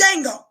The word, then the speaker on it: Django: building where's Django not to jingle to D is silent res Django Wednesday and go it I need Django Jamie